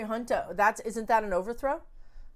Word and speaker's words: junta: heal um a military junta junta isn't that how you say it j-u-n-t-a a military hunter that's isn't that an